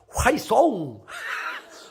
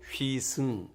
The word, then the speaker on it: 휘승: Hey, 화이송! 화이송! 발음을 못해요. 아니요, 휘승.